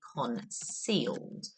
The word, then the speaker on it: concealed: to keep his identity concealed that's a soft sea sound there so it sounds like an S but it's spelled with a c um as always when